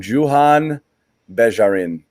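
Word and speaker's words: Juhann Begarin: Pronounce it for me one more time. Johann Begarin.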